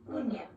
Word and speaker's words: uña: In Spanish spelling, this mark above the N indicates that rather than una, the word should be pronounced uña.